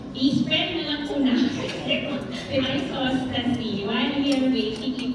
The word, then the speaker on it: isostasy: Isostasy, if you're an American, you call it isostasy. Correct pronunciation is isostasy.